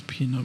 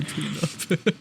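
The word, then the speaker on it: Pnub: It's Peanut. It's such a dumb name, but I love it. Yeah, I keep looking at it like I'm not pronouncing that right, but Peanut. It's literally Peanut.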